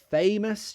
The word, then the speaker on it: famous: So yeah, famous, you have that A sound, famous.